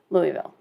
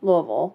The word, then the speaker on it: Louisville: that no we say Louisville Louisville like you've got marbles in your mouth yeah if you got